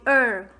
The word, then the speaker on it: her: No, this one you say her. You keep confusing this, so you keep mispronouncing this word. So we say her.